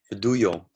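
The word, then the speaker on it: Fadullo: Faduyo. Faduyo? You say it like that? Fedullo. Faduyo. Yeah, you write it with double L, but you pronounce just Yo.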